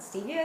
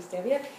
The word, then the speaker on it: stevia: Some people pronounce it stevia. It's actually stevia.